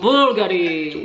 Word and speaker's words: Bulgari: Many luxury goods comes out of Bulgari. This company is headquartered... Bulgari!